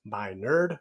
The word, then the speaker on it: Minard: my name is Dr Minard pronounced by nerd rightfully so and I